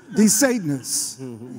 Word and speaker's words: DeSantis: DeSantis in Florida wants to ban books, wants to